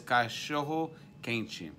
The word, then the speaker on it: cachorro quente: and how they say it in Brazil is cachorro quente.